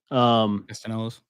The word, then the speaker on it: Castellanos: I think you pronounce the L's in his. Okay. Castellanos.